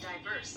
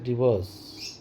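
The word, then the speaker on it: divorce: বল দেখিনি meanings ডাইভার্স defence D আই ডি ই আর এস ই ডাইভোর্স কথাটা ডিভোর্স না ডাইভোর্স ডাইভোর্স ডাইভোর্স ডাইভোর্স দেবো ডাইভোর্স সেখান থেকে কথাটা উচ্চারণ হচ্ছে ডিভোর্স তা তুমি এখন আমাকে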